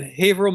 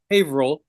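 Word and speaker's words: Haverhill: Um, we're in Haveril, Massachusetts. It's spelled Haver Hill, but this is New England. They don't say things the same way as everybody else. So, Haveril, Massachusetts, just north of Boston.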